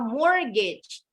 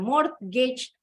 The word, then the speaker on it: mortgage: Bacanya mortgage. T-nya silent. Jadi bacanya bukan mortgage atau mortgage.